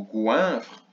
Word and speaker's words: goinfre: Donc on entend le son ouin dans la première syllabe. Goinfre. On entend d'abord le son G du gulu. G. Gouin. Gouin. Le son ouin s'écrit donc O-I-N.